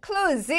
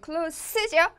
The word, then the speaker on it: close: close 아니요 close죠. close 가까운 형용사고 close는 문을 닫다라고 할 때의 동사를 의미합니다.